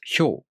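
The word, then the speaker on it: ひょう: This is pronounced hyo.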